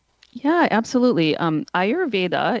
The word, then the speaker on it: Ayurveda: Um Ayurveda it's spelled for people who don't know a Y u ray and then va v da.